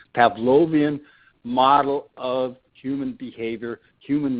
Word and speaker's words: Pavlovian: stimulus-response reinforcement the Skinner box the Pavlo T Pavlovian have to pronounce that correctly Pavlovian model of human behavior human learning where you